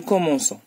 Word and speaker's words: commençons: d'ajouter la CID pourquoi parce que c avec O ça donne Co et si j'ajoute la CD je prononce nous commençons alors nous commençons il